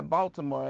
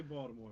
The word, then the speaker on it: Baltimore: but I use the T, but I know the D is out there. I can say Baltimore if I need to.